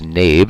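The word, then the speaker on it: Knabe: Otto nabe and actually if we pronounce it properly in German it would be kanaba kanaba there's no silent letters in German but we'll use nabe in English pronunciation I'm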